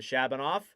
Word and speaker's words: Shabanov: To Shabanov.